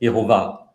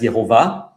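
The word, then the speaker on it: יהוה: Um, and I pronounce it as yhovah. Okay. Um, I pronounce the vav as v, but you know, I know that in ancient times it would have been pronounced as. Okay. Perhaps yova.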